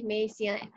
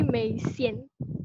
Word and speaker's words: Mei Xian: Say Mei Xian. That is how people always pronounce it, but I'm fine with it. Tell me how to correct to pronounce it correctly. It's actually Mei Xian.